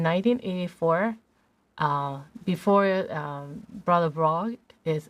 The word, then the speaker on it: Brough: and uh in 1984 uh before um brother bro is how you say it uh he was